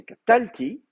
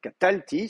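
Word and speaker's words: קָטַלְתִּי: un Cheva mais normalement l'accent souvent descend vers la dernière syllabe non c'est catalti he donc catalti c'est l'accent est sur catalti je je vais vous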